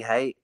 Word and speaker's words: Haight: People pronounce it Haight. It's not Haight. It's Haight. I'm a lover, not a hater.